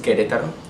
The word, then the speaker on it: Querétaro: Vianna, it's actually pronounced Querétaro.